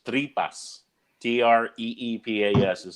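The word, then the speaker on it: tripa: known to you cooked tripe Alegre yeah exact pronounced three bus TR EE PA yes is how you'd say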